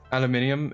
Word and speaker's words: aluminium: of the here uh as a European I recognize that aluminum aluminium is the correct way to pronounce it an but there is also no I in the word so it feels wrong um I think in